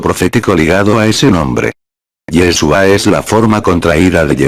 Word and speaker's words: Yeshua: en el caso de yeshua pronuncie yeshua es el nombre propio en hebreo del masj así le fue